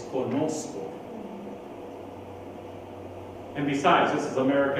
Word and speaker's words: conozco: Conoco. My dad quickly, boy, where did you learn that kind of Spanish? It's conozco.